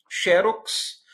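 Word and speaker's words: xérox: Xerox, não é? Ou xerox. Veja que a primeira tem um acento gráfico, uma paroxítona terminada por X.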